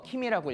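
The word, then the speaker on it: 君: 그게 뭐냐면 신이라고 한자를 써서 오미라고 읽고, 연이라고 한자를 써서 무라지라고 읽고, 군이라고 한자를 써서 키미라고 읽고, 직이라고 한자를 써서 아타이라고 읽고, 조라고 한자를 써서 미야스코라고 읽고, 수라고 한자를 써서 오비토라고 읽습니다.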